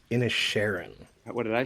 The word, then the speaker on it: Inisherin: today we're talking about 2022s the banshees of in Sharon which is directed by Martin McDonough and is